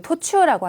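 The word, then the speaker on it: 途中: 하나 시대 이르 도춘이요 토추라고 하는 거 발음 중요한데 토가 짧아요 그래서 얘기하고 있는 도중에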